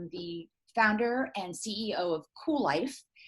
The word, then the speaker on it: Kuel: I'm the founder and CEO of Kuel, and that is spelled with a K. It's all cattywampus, Kuellife, and it is a play on the whole concept of cool and continuing to be cool as we age.